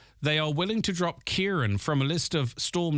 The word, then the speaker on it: Kieran: An email to foreign colleagues said it's pronounced Kier, but if you think it's too complicated to pronounce, it wouldn't be a problem for us to let it go.